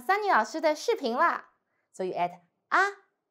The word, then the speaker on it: 啊: So you add A. And the second tone.